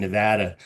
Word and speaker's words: Nevada: So if you just use a New Jersey accent, you can say Nevada. Put on your Jersey Shore accent and you can... I know it rhymes with Vlad. It doesn't mean I can say it correctly.